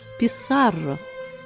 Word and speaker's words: Піссарро: Перечитала уважніше. Інший наголос. Піссарро. Франциско Піссаро іспанський констадор X століття.